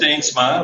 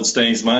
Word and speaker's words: Steensma: Steensma, we call it Steensma in Dutch, but yeah. Steensma?